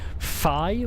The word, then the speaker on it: phi: Technically, it should be pronounced fi with the lips kind of pressed together.